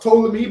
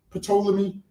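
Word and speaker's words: Ptolemy: So it's it's pronounced tolamy but obviously a lot of us say poleami.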